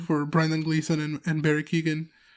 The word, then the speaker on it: Keoghan: Brendan Gleeson and Barry Keoghan. Keoghan, that's how you say it.